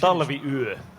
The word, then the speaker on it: Talviyö: So, my question is, the winter night, I don't know how to pronounce that in Finnish. Talviyö.